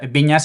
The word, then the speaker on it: Vinyes: Mi apellido en catalán es Viñas, igual que en castellano con ñ a s. Lo que pasa es que Viñas en catalán se escribe con NYS, ¿no?